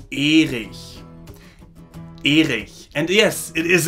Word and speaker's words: Erich: That name is pronounced Erich. Erich.